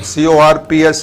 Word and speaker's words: corps: CORPS is pronounced as corps.